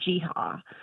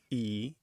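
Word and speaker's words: gee-haw: Jeehaw, jihaw, like yeehaw, but with a J. Yep, that's Yeah. one of them. Sometimes people spell it with a G, actually more often with the G, Geehaw, and as two words,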